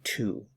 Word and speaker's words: two: Notice that the W is silent. We just say two.